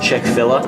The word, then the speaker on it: Chick-fil-A: Pronounced Chick-fil-A.